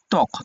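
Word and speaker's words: ত্বক: যেমন তক তকের শুরুতে ত এর সাথে বফলা যুক্ত থাকার কারণে এই বটা উচ্চারণ হবে না।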